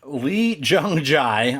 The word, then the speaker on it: Lee Jung-jae: So, yeah, Lee Jung-jae, I trust is how you pronounce his name.